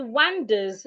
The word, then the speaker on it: wander: The one that has letter A as the O sound.